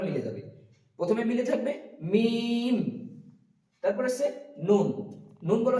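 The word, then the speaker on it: ميم: তো তারপর আছে মিম, এখানে মিম, মিম একদম সোজা, মিম দ্রুত ঠোঁট একসাথে মিলিত হবে, মিম, এবং লাস্ট আবার একবার মিলে যাবে। প্রথমে মিলে থাকবে মিম, তারপর আছে নুন।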